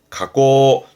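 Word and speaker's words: 加工: 가공 발음은 가고 조심하세요. 가고 가고 가공한다 그러잖아요.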